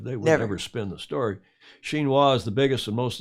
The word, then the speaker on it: Xinhua: believe everything i read in wikipedia told you xinhua's a ministry level institution okay enough of all